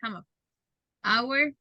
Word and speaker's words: hour: okay don't do it they are H our hour the same pronunciation okay guys so now